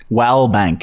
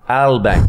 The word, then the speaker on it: Wallbank: It's actually, and I think the W is silent. It's a James Zalbank. It's a W-A-L-B-A-N-K. Yeah. Try and pronounce it again. Wallbank. No, remember, silent W at all. Albank.